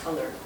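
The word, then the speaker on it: Culler: because it's all about color and it's pronounced color but it's spelled different so I like your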